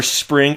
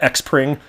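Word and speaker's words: Xpring: you call some are spring how many people out there when they saw spring which is spelled XP are ing how many people said X praying like a hundred percent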